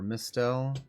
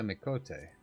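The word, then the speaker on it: Miqo'te: range of equipment for Mistell, such as yourself. Mistell, what's Mistell? So, finding yourself uh finding something in your size shouldn't be a problem. Sorry. Would you? I'm I'm actually a mikote.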